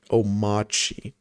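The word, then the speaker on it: Omarchy: Omachi. The R is silent.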